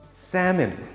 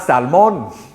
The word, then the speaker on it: salmon: i plus um i salmon salmon salmon i'll have the grilled salmon please bears love eating salmon it's not salmon the l is silent and the m-o-n is pronounced as m-i-n salmon temple temple temple thailand